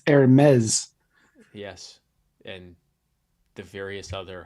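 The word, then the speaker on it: Hermès: and hermes hermes hermes it's not herms which is how it's spelled it's hermes yes and the various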